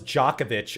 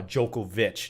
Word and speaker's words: Djokovic: pronounce djokovic's last name it was djokovic i've heard in the mid to late uh 2000s but now it's cemented as uh jokovic not djokovic so again i apologize